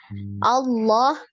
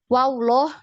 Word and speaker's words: Allah: Allah, wallah. Jadi bukan wawloh. Nah, biasa kan yang kebanyakan di masyarakat umum ya bacanya wawloh, Allah gitu ya. Karena mau menebalkan itu tadi. Jadi Allah ya, jadi seperti ada huruf waw.